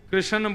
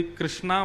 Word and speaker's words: कृष्ण: लाल की जय बंधुओं कई लोग इस नाम को अशुद्ध बोलते हैं कई लोग कृष्ण बोलते हैं कई लोग कृष्ण बोलते हैं कोई कृष्णा बोलता है भगवान का नाम शुद्ध उच्चारण करो नाम क्या है कृष्ण भगवान जय श्री कृष्ण